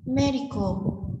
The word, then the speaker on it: medical: Medical, medical, trọng âm số 1 thuộc về y học.